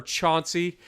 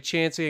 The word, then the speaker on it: Chauncey: They say Gloucester, they say everything else, but they don't call it, or Chauncey. That's another one. Instead of Chancey. It's actually Chancey and Gloucester, not Gloucester or not Chauncey.